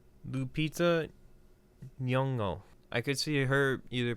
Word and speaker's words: Lupita Nyong'o: I want to try to pronounce her name correctly. Lupita Nyong'o.